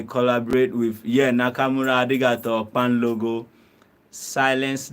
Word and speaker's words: kpanlogo: Yeah, it's called Pan Logo. We spell, this is how we spell it: KPANLOGO. KPAN. But you can, the pronunciation is Pan Logo.